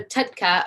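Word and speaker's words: TUDCA: correctly one time so tutka or t-u-d-c-a stands for toro sodium oxycolic acid that's a mouthful i'll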